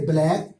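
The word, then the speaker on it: black: میں لکھ دیا ہوں, اگر سی کے بعد کے یا کیو میں سے کوئی ایک حرف ہو تو سی ہمیشہ سائلنٹ رہتا ہے. جیسے BLAC کے بلیک, بلیک مینس کالا.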